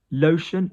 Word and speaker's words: lotion: Lotion, lotion, T-I-O becomes an S.